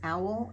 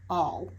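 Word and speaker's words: awl: my past videos and I was calling this owl it's all like a l all it is spelled a WL half the time I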